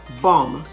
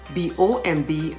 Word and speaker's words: bomb: word pronunciation for example let's look at silent b words bomb b-o-m-b bomb have you noticed that the last b is silent similarly the last b